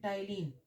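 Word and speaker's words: ptyalin: ठीक है, salivary amylase, salivary amylase में एक एंजाइम होता है जिसको बोलते हैं टाइलिन, मैंने बता दिया है इसको लास्ट टाइम, पी साइलेंट।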